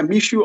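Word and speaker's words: Michaud: to speak now okay michoud is that how you pronounce it yeah mishu is my name yes go ahead okay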